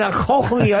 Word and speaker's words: cochlea: His cochlea doesn't work?